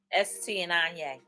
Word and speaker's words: Etienne Aigner: the real detail of a real authentic quality s t and anya and that is how you say it so